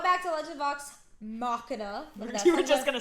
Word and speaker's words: Machina: I'm gonna say it right. Machina. It's Machina. We shit up. Not Machina. Here we would say a Mac, like Mackin, because we're from Jersey.